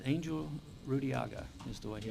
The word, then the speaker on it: Angel: Engel, So I think he pronounced it, Angel Rudiaga is the way he, Rudiaga?